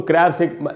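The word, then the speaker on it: crabs: तो दोस्तों, क्रैब में जब एस लगा तो एस, यहाँ एस को ज पढ़ेंगे, यानी क्रैब्स।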